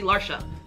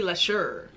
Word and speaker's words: Leshurr: talking let's get into Lady larsa I've been saying it wrong it's Lady less sure recipes someone told me